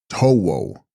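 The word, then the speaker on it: Khro-bo: Tibetan Krobo, pronounced Towo, Sanskrit Kroda.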